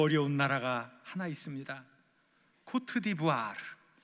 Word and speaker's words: 코트디부아르: 코트디부아르. 불어를 좀 해야 이 발음이 나옵니다. 코트디부아르.